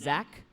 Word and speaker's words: Zac: His name is Zach, just with a C. He said, I don't pronounce the H, so I'm not going to include the H in my name.